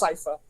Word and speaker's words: Sypha: However you pronounce your last name, I know her first name is supposed to be pronounced Sypha.